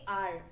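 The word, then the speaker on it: hour: We should not pronounce H in the R.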